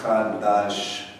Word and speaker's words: Chadash: If you're going to break it down into English, it's kind of like Chadash.